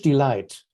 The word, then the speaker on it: delight: Light is spelled with a G because in Middle English that's licht, right? There used to be like a ch sound. Delight in Middle English used to be delight or delight like this. It never had a G in it. It never had a ch sound. But we spell it like this in analogy because it sounds like light.